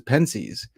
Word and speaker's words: Pensées: So instead I say it the way I hear most Americans say it, which is Pensées.